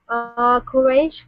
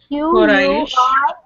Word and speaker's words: Quraish: How do you pronounce it down here? Quraish. Q-U-R-A-I-S-H.